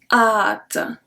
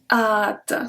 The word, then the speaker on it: hâte: Numéro 5, hâte. Hâte. So we don't pronounce the H, and this one is usually with avoir.